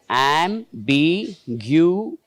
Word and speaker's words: ambiguity: Now, so where should be the stress? Okay. First, which is the third syllable from the right? So, what she has written is correct? Ambiguity.